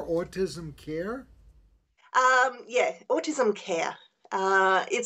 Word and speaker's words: CAER: CA er stand for and how do you pronounce it care autism care um yeah autism care it stands for community